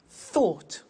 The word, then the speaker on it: thought: Think, thought.